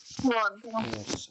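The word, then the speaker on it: won't: അപ്പൊ അവിടെ ഉച്ചാരണം ശ്രദ്ധിക്കണം ഈ വോണ്ട് എന്നുള്ളത് ഈ ഇങ്ങനെ ഒരു ഓ എന്നുള്ള സൗണ്ട് വരണം വോണ്ട് okay വോണ്ട് ഐ വോണ്ട് ബി ബിസി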